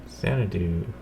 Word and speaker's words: Xanadu: Xanadu.